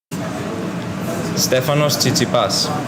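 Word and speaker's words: Stefanos Tsitsipas: Stefanos Zitzapas. Say it again. Stefanos Zitzapas. This is how he says his own name. Stephanosipas.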